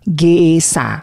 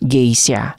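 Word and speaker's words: Gesha: pedagang atau yang lainnya mengalami perubahan Eja mungkin karena saat pelafalannya hampir terdengar vokal I maka jadilah Geisya padahal gesa ditambahi I tapi kesalahan Eja ini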